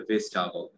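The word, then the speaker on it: vegetable: ভেজিটেবল বলি, ঠিক আছে এর উচ্চারণ হবে ভেজিটেবল ভেজিটেবল ভেজিটেবল, আমরা ভেজি, হ্যাঁ ভেজি আই কিন্তু উচ্চারণ করি, বুঝতে পারলেন? ভেজি উপর কিন্তু উচ্চারণ দেয় কিন্তু এখানে আসলে ওটা না, ভেজিটেবল ভেজিটেবল, বুঝতে পেরেছেন এখন বিষয়টা?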